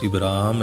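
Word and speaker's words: אברהם: مشابہ رکھا گیا ہے۔ ابراہیم علیہ السلام کا مختصر عبرانی تلفظ ابراہم ہے۔ حضرت ابراہیم علیہ السلام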